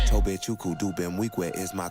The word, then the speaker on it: Nwigwe: He does right, but he says Nwigwe. I heard him say on an interview that he doesn't like when people get his name wrong. That's cool. I mean, Tobe Nwigwe. We said that. Tobe, I said it right. Nwigwe. The N is silent. Nwigwe.